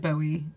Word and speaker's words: Bowie: be David Bowie but he always thought it cuz Bowie the knife that it's like the movie knife yeah it's actually a bowie knife and that's what how it's pronounced so his whole life